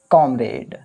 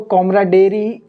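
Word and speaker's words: comrade: तो पहला एंटोनिम्स क्या है, तो सबसे फर्स्ट है हमारा कॉमरेड। देखो, इसका प्रोनाउंसिएशन अच्छे से करना है अपन को। कॉमराडेरी, कोई पढ़ रहा है इसको कॉमराडेरी। कॉमराडेरी नहीं है, ये कामरेड है।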